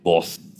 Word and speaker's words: Booz: Con Z, Booz. ¿Eres capaz de decir con Z? Booz. Pero no escupas, ¿eh? Booz.